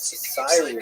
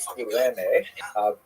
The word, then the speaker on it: Cyrene: I've looked it up and I've heard it pronounced as Cyrene in English. In Greek, it would have been something like Kurene.